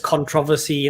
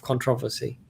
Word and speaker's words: controversy: So I said controversy, and you pronounced it controversy. So there's a controversy of how you, or a controversy of how you pronounce controversy or controversy.